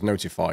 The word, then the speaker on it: ntfy: Last but not least, we have ntfy, which I'm going to pronounce as notify to save everybody's sanity.